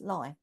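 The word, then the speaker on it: Leigh: place in Kent that it looks like Lee l e i g H but it's actually pronounced lie yeah yeah Nigel corrected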